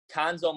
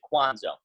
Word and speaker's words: Cuonzo: ferns new basketball so Cuonzo Martin he's head basketball coach but his name spelled Cu o NGO which a lot of people get confused and pronoun see Kwanzaa so I'm gonna put